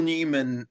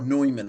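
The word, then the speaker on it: Neumann: But there's one dilemma that I do think is worth uh bringing up though, Jack, which is um Phil Newman or Noyman as I believe it's actually pronounced um and Kristoff Claraara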